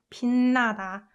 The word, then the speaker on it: 빛나다: 그 다음에 same with 으 combined with 느. So this one should be pronounced 빛나다, 빛나다, 빛나다, 빛나다.